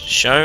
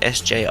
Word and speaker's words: SjoW: to go badly for me but it is pronounced show and I kind of already knew that but I decided that I was going to pronounce it SJ in my cost anyway and now I decided